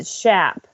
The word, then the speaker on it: Schaap: And then the other who is present as well, Miss Marie Schaap. And I want to make sure I pronounce that right. German, Schaap.